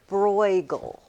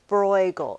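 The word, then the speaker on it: Bruegel: Um, this artist's name is Peter Bgal. Bgal. It's spelled B R EU.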